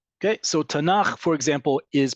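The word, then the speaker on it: תנ״ך: far right okay so tanak for example is pronounced we treat This Acronym like a word and we pronounce it as such tanak and you notice where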